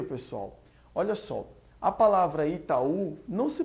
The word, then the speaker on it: Itaú: sílaba força acentuada e na palavra Itaú a gente vê que é última sílaba que tá acentuada no caso ainda é